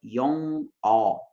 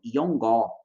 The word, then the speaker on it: 영어: Eu vou usar aqui como exemplo a palavra yong-o, yong-o, yong-o, para poder ilustrar essa situação, tá? Porque nela a gente tem o batim ian na primeira sílaba e depois vem uma vogal que é o o, né? Então a gente tem aí esse contexto de confusão. É muito comum os estudantes no começo falarem yongó, yongó, como se estivesse colocando